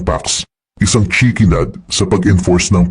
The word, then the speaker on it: P4x: Pinili niya ang P4X binibigkas bilang Pax, isang chickenad sa pag-enforce ng peace through punishment.